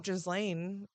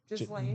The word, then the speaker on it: Ghislaine: I mean, you still have Ghislaine, who's still alive, who's Yeah.